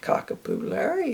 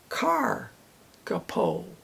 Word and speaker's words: kakapo: and uh it uh tells me how to pronounce it not kakapo it's carapo carabo carabo so I have one one thing